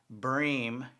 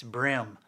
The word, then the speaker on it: bream: somebody is pronouncing it breem it's spelled b-r-e-a-m but it is not pronounced bream only a non-fisherman would say bream it's brim they're brim bass and